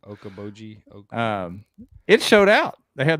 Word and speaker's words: Okoboji: I can't pronounce it. Okeechobee. Yeah. Okeechobee of the North. Is that what it's called? Okoboji.